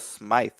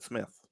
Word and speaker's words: Smythe: I thought it was Smythe because it's spelled Smythe. Oh, Smythe. Okay, got it. I'm with you. But I asked him day one, how do you pronounce your name? He said Smith.